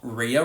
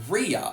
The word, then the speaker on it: Rhea: I will add there are a few other ways you can pronounce this name as well. For example, Ria Ripley. She says it like Ria in the International Phonetic Alphabet.